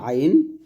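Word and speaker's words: عين: এটা হবে গলার শুরু থেকে হামজা আর আইনটা হবে গলার মাঝখান থেকে। তাহলে আমার সাথে পড়েন হামজাহ হামজাহ আর আইনটা গলার মাঝখান থেকে চাপ দিয়ে বলেন।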